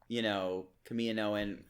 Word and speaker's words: Kaminoan: and we do see signs of the clone, Kaminoan. that's the correct pronunciation.